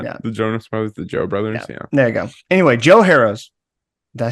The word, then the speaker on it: Joe Harroz: Anyway, Joe Harroz.